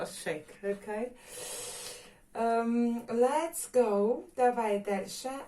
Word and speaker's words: chic: Но и многие люди все равно произносят как check, но shake, okay?